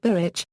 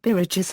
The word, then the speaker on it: Biritch: According to the Oxford English Dictionary, bridge is the English pronunciation of a game called birich, which was also known as Russian whist.